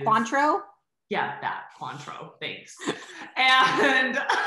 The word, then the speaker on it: Cointreau: recipe is uh tequila coin trowel which i know i'm not pronouncing it properly but it's like an orange liqueur that is quantro yeah that cointreau thanks